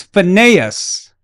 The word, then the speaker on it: Phineas: It's pronounced Phineas. Well, excuse me. Well. I'm sorry, but it's Phineas. Okay? Like Aeneas.